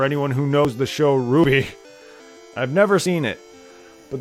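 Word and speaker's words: RWBY: never seen it myself yeah I know it's pronounced Ruby it's pronounced Ruby I know I just like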